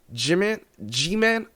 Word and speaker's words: Jimin: You got, isn't it, I used to say Jimin, is Jimin, right?